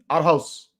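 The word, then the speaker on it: Aarhus: up Denmark that's right arus arus I don't know if that's how you say it Aros ah there you go Rick's saying it it's Denmark not Belgium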